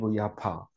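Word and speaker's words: Jaffa: 쪽문을 문이라고 했어요로 가면 요빠 갈 때는 그쪽으로 해서 나가서 고장 가고 이렇습니다 그 그런데 지금은 거기가 이스라엘의 수도 아아 테라비 야파 우리는 요를 하지만 그 영어 발음으로 야파 합니다 야파 야파 해놓으니까 테라비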